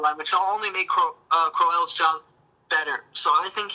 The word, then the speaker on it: Crowell: It's Crowell.